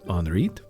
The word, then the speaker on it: Henriette: Henriet Danville's first name is spelled like Henriette, but since she was French, it's pronounced something like Henriit.